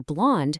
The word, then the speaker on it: blonde: For blonde, you have to lean into the nasal sound, but ensure you hit a soft D at the very end.